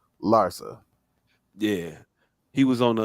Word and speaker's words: Larsa: With his intended Larissa Larsa. How you say her name? Larsa.